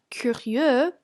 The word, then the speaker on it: curieux: This one, for example, sounds like curieux in the masculine singular.